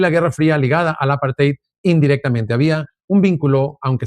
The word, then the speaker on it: apartheid: El apartate en África, el apartate, creo que se pronuncia, que era un sistema legal de discriminación, odio, segregación, racismo, inclusión, perdón, exclusión, brutalidad y castigo.